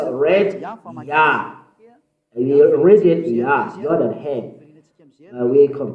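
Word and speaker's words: יה: How to pronounce it's Yah, according to the Hebrew.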